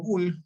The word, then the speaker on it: Boole: Y acá yo puedo leer Boole y no estoy cometiendo ningún error en la pronunciación, ¿correcto? Muy bien, Boole o Bull publicó un breve tratado